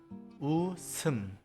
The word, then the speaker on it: 웃음: For example, in 웃음, 이응, a vowel, follows after 시옷. So, 시옷 is sent to the next syllable and pronounced as 웃음.